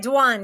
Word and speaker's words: Dwan: the show I'm so excited hey is it danan does that pronounce it right that's right danan yep oh I love that fantastic now danan